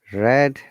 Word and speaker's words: read: as you can see it is not pronounced the way it is you know written which is why we